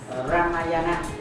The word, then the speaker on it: Ramayana: Một là Ramayana và thứ hai là Mahabharata. Chúng ta nên phát âm cho nó chuẩn ở chỗ này.